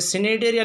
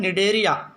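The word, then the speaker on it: Cnidaria: ये सी साइलेंट है, इसमें भी सी साइलेंट है। सिनेडेरिया नहीं बोले, इसको बोलते हैं निडेरिया।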